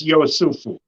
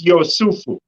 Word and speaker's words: Yosufu: would read it as Yosufu. Oh, you're saying that's how it's pronounced? If it's spelled in as Joseph in English? But yeah, instead of a J, it becomes a Y. So it's Yosufu.